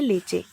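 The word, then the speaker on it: leche: जो main word है हमारा मिल्क, उसको हम प्रोनाउंस करते हैं स्पेनिश में लेचे, लेचे। लिखा इस तरीके से जाता है और बोला इस तरीके से जाता है।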